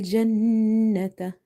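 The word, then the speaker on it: الْجَنَّةَ: Lal jannata, jannata. So we have to hold this noon sound by doing the nasalization or gunna in this noon.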